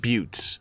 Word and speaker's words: Buttes: I will probably forget that it's pronounced Buttes. I would rather pronounce it correctly.